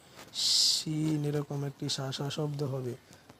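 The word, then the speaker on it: شين: তারপর আপনার আছে জিহ্বা শিন। জিহ্বার মধ্যখান তার বরাবর উপরের তালুর সঙ্গে লাগাইয়া একটি হরফ উচ্চারিত হয়, যেমন শিন, শিন, এরকম একটি শাসা শব্দ হবে।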